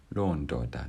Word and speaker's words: londoda: And notice that it's a falling tone, so it's a long o and it's going down, londoda, that man.